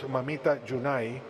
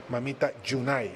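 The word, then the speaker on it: Mamita Yunai: He wrote a book in the 1940s called Mamita Junai, which is the way the former banana workers pronounce United for United Fruit Company, Mamita Junai United.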